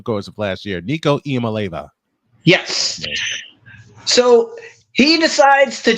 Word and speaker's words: Iamaleava: Nico Iamaleava.